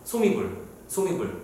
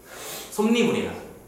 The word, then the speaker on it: 솜이불: 솜이불. 방금 발음 잘못한 거죠? 솜이불의 원래 FMR은 뭐예요? 솜니불이야. 오케이? 그러니까 솜이불이라고 발음을 하면 편하잖아. 근데 사람들은 이거 굳이 솜니불이라고 발음한단 말이지.